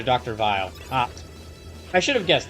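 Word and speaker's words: Weil: It's German and actually pronounced closer to Dr. Vile.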